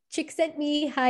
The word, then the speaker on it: Csikszentmihalyi: evolving self by mihai chick sent me hi i believe is the closest i'm gonna get to pronouncing this name correctly and usually we just